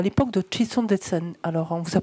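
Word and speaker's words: ཁྲི་སྲོང་ལྡེ་བཙན: Mais c'est pas Kri, etc. qui est écrit, enfin, qu'il faut prononcer, c'est Chitson Detsen, c'est le premier roi du Tibet.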